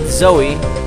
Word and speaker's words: Zoe: we still haven't found zoey or zoe how you want to pronounce his name so there must